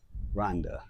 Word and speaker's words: Rwanda: And we are in the beautiful country of Rhonda. Yes. Not Rwanda, everybody. It's Rhonda. Yeah. The W is silent.